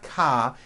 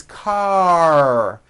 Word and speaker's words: car: Now you may say ka, ending with an A vowel, but it's not ka, it's car. Your tongue has to pull back. Car. And also your lips close a little bit in the front. The R needs to be very strong and you need to close the word.